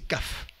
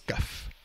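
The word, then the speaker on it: قاف: Et c'est kaf. Ça se prononce kaf.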